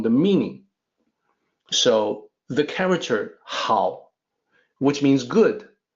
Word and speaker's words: 好: So the character 好, which means good, can be pronounced with a different pitch, 好, when you want to use it as a verb, to like something.